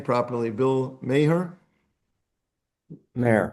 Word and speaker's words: Maher: Bill Maher. Maher. Not everybody knows him. Bill Maher. What? It's Bill Maher, M-A-H-E-R. Yeah. M-A-H-E-R, right. Then. Bill Maher? Yes. Like it sounds like mayor, like with a Y.